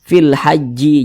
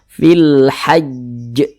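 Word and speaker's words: في الحج: Huruf jim itu termasuk salah satu huruf qalqalah. Jadi kalau dia sukun maka cara bacanya itu dipantulkan. Makanya kita baca fil hajj. Nah, tapi ini cara bacanya itu jangan dibaca seperti ini. Fil haji jangan, atau fil hajj jangan. Tapi ditasydidkan dulu ya, ditasydidkan dulu baru dipantulkan.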